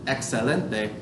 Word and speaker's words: excelente: But in the word excelente, excellent, excelente, it makes like an X in English.